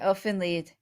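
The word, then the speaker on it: Elfen Lied: have been curious about Elf and Leid or is that how it's pronounced? Yeah, Elf and Lead. Yeah. Okay. Elf and Lead.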